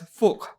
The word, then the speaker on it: Phuc: Not F-U-C, no, that Vietnamese word over there, Nim, is pronounced as Phuc, right?